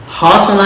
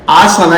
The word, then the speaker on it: हासन: अस्माकं कर्णाटकप्रान्ते आ इति स्वरः अस्ति हा इति एकं व्यञ्जनमस्ति परन्तु अरसीकेरे इति एकः ग्रामः नगरमस्ति हासन इति एकं नगरमस्ति बालाः किं कुर्वन्ति हरसीकेरे आसन इति वदन्ति आ हा द्वयमपि उच्चारणं कर्तुं शक्नुवन्ति परन्तु तत्र परिवर्त्य उच्चारणं कुर्वन्ति